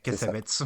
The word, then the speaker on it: Cassavetes: Et oui, on a changé de prononciation entre-temps parce qu'on ne sait pas trop, donc on dit Cassavetes maintenant.